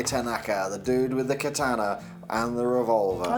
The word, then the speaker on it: katana: Well, it's pronounced katana, but you said katana.